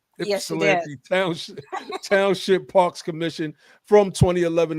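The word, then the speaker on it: Ypsilanti: is a lifelong and I've always I think pronounced this word wrong, so correct me if I'm wrong. Ipsilante. You're good. Ipsilante.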